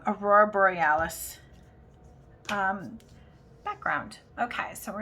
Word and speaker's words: aurora borealis: in there and that's our brewery oh i keep saying it wrong aurora borealis um background okay so